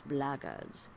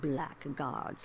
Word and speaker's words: blackguards: another one of those blaggards and that's the way to pronounce it not blackguards like that thug insisted it was then my answer is